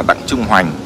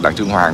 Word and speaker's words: Đặng Trung Hoành: thì thành Hoành n mình đọc là Đặng Trung Hoành chứ đừng nói là Đặng Trung Hoàng thì chết dở nhầm